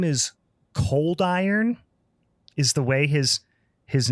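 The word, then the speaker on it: Coldyron: Cold Ron, but it's Cold Iron is the way that they say it.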